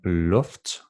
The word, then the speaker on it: luft: The vowel sound U lowers down to O, as in luft, sukker, and dum.